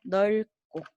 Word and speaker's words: 넓고: 너 보입니까 넓고 입니까 자 어떻게 발음 했었죠 네 맞습니다 넓고 라고 발음 했어요 널 꿀 자 여러분 우리 요거